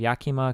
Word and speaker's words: Yakima: The site, about half the size of Rhode Island, holy shit, is an area centered roughly 75 miles east of Yakima.